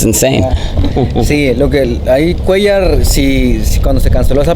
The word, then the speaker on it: Cuellar: Yeah, how did I say it? Suliar. No, I said Suliar. I don't know. Happy we caught that today. How do you say it? Cuellar. Okay. Cuellar. Now, the fight was canceled